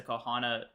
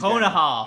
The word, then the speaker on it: Konoha: Just wear the on-air sign like it's a Kohana.